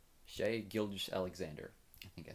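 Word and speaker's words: Shai Gilgeous-Alexander: So just recently for the Thunder, SGA, Shay Shay, I think you pronounce it Shay. Shay Gilgis Alexander.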